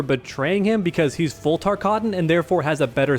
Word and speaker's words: Tarkatan: Don't mispronounce it, learn how it's said. It's Tarkatan, okay? Practice it in the mirror if you have to. If you're a Mortal Kombat fan, then learn how to pronounce Tarkatan.